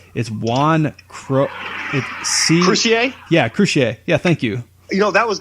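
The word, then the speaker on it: Croucier: bass player, I don't even know how to pronounce his name. But it's Juan Crucier? Yeah, Crucier.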